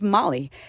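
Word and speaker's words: Mali: I'm also known as Molly, aka Mrs. Molly, spelled like the country in West Africa.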